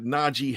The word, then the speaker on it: Najee: And I'm going to pronounce it like that, Najee Harris, because when I introduced myself to him, and you'll get a chance to see it.